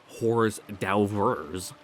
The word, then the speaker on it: hors d'oeuvres: Erica had been gracefully eating her hors d'oeuvres, or hors d'oeuvres, the H is silent there, or the hors d'oeuvres, without showing any confusion over the line of utensils in front of her.